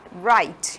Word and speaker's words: write: Observem que eu não pronuncio a letra W, tá? Write. Eu não falo o write, eu falo write.